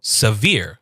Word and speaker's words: severe: This means that we are going to emphasize whatever is after that. So here we have sa, which is our first syllable, sa, and then we have veer. So severe. Say it again, severe.